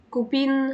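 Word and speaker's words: copine: كده النطق اختلف يعني في المذكر قلت ا كوبا في المؤنث اون كوبين الاي ان في الحاله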